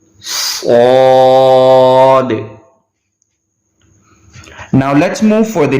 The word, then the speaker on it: صاد: So we have to pronounce according to the whistle sound as well. So the both rules apply on the one alphabet, which is whistle sound and thicker voice.